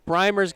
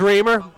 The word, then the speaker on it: Reamer: to Tee It Up primer's got the ball on the tee reamer reamer I'm sorry I pronounced it correctly the first few times I don't know why I reverted it is reamer that's what we do